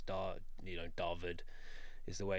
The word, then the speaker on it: Dawid: In Afrikaans, the W is pronounced as a V, so it's Dawid is the way it's pronounced. So I assume it's just a South African version of David. That's Dawid.